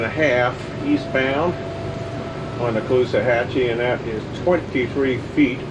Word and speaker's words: Caloosahatchee: Cape Coral and got over here to the Caloosahatchee, is that how you say it?